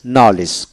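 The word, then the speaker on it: knowledge: সি টি আইবি এ জিকটিভ এ জিটিভ এখানে উচ্চারণটা হবে ডি উচ্চারিত হবে জেটিভ নালেস নলেজ কেন ডব এলই জি নলেজ ডি উচ্চারিত হবে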